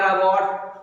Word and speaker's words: रबात: रबात, रबात या रबाट वो अलग अलग उच्चारण होता है।